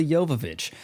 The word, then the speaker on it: Jovovich: feature the boobies from the Star nonetheless Mila yovich yes I am the only YouTuber who can correctly pronounce her name ah let's see where operating